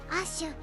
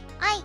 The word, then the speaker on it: Æ: ちなみに発音はアッシュ。マスク曰くグライムスは愛と言ってます。